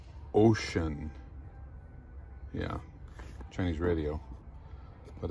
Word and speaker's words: Wouxun: a handy talky radio it's gmrs from it's pronounced ocean yeah chinese radio but it's supposed to be